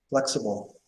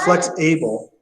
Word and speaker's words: flexible: flexible. It's It's not flex-able. It's flexible.